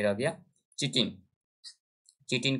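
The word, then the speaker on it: chitin: ये बना होता है आपका, एक सेकंड ऑप्शन ऊपर में रह गया, चिटिन, चिटिन का बना होता है। काइटिन जिसको इंग्लिश में लिखते हैं ऐसे स्पेलिंग होता है, काइटिन का बना होता है।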